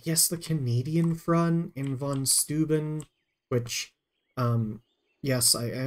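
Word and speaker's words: von Steuben: old American in in in English uh V's are not FS but in German V's are FS so definitely understand that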